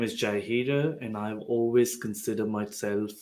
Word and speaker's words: Jay Hira: so like i started saying my name is jayhido and i've always considered myself a lifelong learner